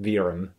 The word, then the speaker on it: Verum: it comes to language i guess this is originally pronounced verum or something like that but we'll stick with virum because it's much more western viewers friendly and these are really